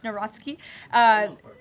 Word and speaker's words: Nawrocki: He met with Karol Nawrocki, if I'm pronouncing that correctly. Yes, Nawrocki.